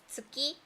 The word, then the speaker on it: 月: In Japanese, we sometimes say it is tsuki.